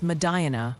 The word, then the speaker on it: Medina: It's Madina for Medina, Ohio, and Onion for that spot in New York you jazzed up earlier.